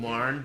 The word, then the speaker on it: Marn: But Sergey has been Marn does rhyme with barn, and they are both very broad.